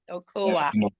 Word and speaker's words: okoa: Oa and ua. You might end up either pronouncing almost the same if you don't take note on how you pronounce them.